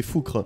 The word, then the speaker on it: Foucre: Ou Foucré, je sais pas comment on prononce. Foucre. Foucre. À la bretonne, c'est Foucre.